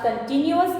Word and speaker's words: continuous: By the way, one more thing which I want to tell you is, some people pronounce it as continuous. But students, I want to tell you, this is not continuous, this is continuous.